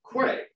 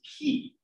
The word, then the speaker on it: quay: And so I always pronounced it Quay, which is incorrect. The correct pronunciation is key.